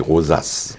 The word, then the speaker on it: Rozias: Parce que normalement, c'est comme Rosa en latin, donc c'est pourquoi je prends le temps de prononcer Rosas. Oui, on s'est toujours habitué à le prononcer, donc j'aime bien avec le S.